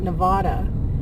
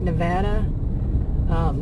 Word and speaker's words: Nevada: And the way people pronounce even states, like I think we always call it Nevada, and it's Nevada.